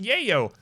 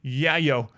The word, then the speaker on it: Yayo: all of it all of it Adam it's pronounced Yayo I know in real life it is okay but in the royalty song alignment they say yeah yo so I specifically pronounce it that way I'm